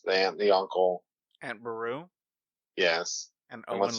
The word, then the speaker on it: Beru: Aunt Beru? Yes. And And Owen what's young? Lars. Owen. Like super easy name. I always butcher Aunt Beru. I say Veru or something.